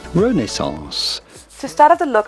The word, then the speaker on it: Renaissance: In French, the pronunciation would be Renaissance. Renaissance. But in English or American, it is usually pronounced Renaissance. Renaissance.